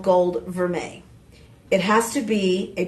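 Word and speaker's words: vermeil: So uh what is verme? It's spelled vermile. V E R M E I L.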